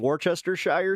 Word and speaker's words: Worcestershire: If you're not putting Worcestershire sauce, I got it right.